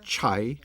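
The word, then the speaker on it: 拆: The sign is a Chinese character which is pronounced chai, and chai, always printed on walls like this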